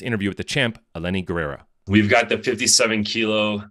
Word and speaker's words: Guerrera: Guerrera. Guerrera? You pronounce the G? Okay. Yeah. Okay.